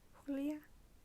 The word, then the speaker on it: Julia: side erica el sanchez the character's name is julia but in spanish it's actually julia i didn't know that so